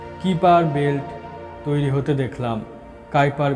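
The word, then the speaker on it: Kuiper: কাইপার belt pronounced কিপার।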